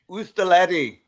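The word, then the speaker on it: oustaleti: Ustaletti.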